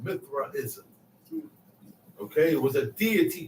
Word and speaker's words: Mithraism: want everybody to look up this word called mithraism okay it was a deity called Mithra I'm